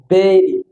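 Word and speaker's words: bury: এই কবর দেওয়া যে শব্দটা বুড়ি বলে সঠিক উচ্চারণ হবে বেরি বেরি কবর দেওয়া কবরস্থ করা বেরি দেন ডি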